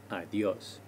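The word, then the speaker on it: adiós: the o of adios adios this helps us tell where the stress is adios three more informal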